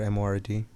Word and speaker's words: Mord: Do you pronounce it Mord or M-O-R-D? The label? I say Mord.